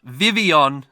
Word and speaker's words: Vivillon: what's this cash Pavilion sorry it's Vivion I read the blog post that actually gave us pronunciation pretty cool cheers Niantic